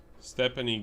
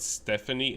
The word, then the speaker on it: Stephanie: Stephanie, get over here. By the way, it is not Stephanie, it's Stephanie, because that's how they say it.